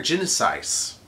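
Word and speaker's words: Genisys: Grammatically, it would be pronounced that way, because the Y wouldn't get pronounced like a normal Y. Or it would get pronounced like a normal Y instead of the E sound like they think, or whatever. It's Genesis.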